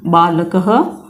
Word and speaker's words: बालकः: अब यहाँ पर जब हमने विसर्ग का उच्चारण किया है तो हम इसका उच्चारण भी कर रहे हैं वर्ण का रूप में। बालकः, ह के रूप में हम इसका उच्चारण कर रहे हैं, विसर्ग का उच्चारण ह के रूप में किया जा रहा है।